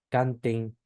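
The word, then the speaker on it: cantem: Y la terminación EM, que se pronuncia en, en, ¿sí? Por ejemplo, la palabra canten, ¿sí?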